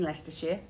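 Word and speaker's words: Leicestershire: so red leester obviously made in Lester Shear uh that's how you pronounce it all of the other letters don't matter at all we just throw them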